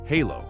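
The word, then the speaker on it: Halló: Hello is pronounced halo, thank you is tak, yes is ja, no is nei, and goodbye is segdu bless.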